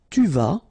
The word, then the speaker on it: tu vas: Tu vas. Final S not pronounced. Tu vas.